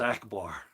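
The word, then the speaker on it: עַכְבָּר: But that's how it's pronounced, akbar, in the Hebrew.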